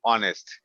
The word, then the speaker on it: honest: যেমন ধরো আমি বললাম HONEST, অনেস্ট। এই যে আমি অনেস্ট বললাম, শুরুতে কিন্তু কি দেওয়া আছে? এইচ দেওয়া আছে।